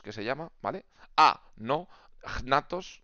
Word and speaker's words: agnatos: No, agnatos, natos, porque no se pronuncia la G, es como la P de psicólogo.